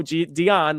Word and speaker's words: Dion: Dion, like Celine Dion.